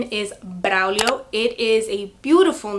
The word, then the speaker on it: Braulio: However, I do not like the English pronunciation of it. It is pronounced Braulio, completely different from Braulio.